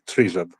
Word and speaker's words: Tryzub: Tryzub. Tryzub. Oh, brilliant! It's taken me a week. It's taken me about 5 days to Tryzub to get that right.